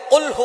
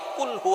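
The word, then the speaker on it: قُلْ هُوَ: আল্লাহ পাক রাব্বুল আলামীন এখানে বলছেন কুলহু আল্লাহু আহাদ। এখানে কফ দিয়ে পড়ছেন কিন্তু অনেকেই ভুল করে উচ্চারণ সঠিক না হওয়ার কারণে তারা পড়ে কাফ। কুলহু আল্লাহ।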